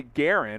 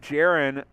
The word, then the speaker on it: Jaren: but uh you know i didn't think it would be garen i think jaren i've heard that name before just with the j so i was like